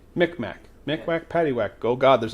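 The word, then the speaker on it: Mi'kmaq: It's Micmac. Micmac.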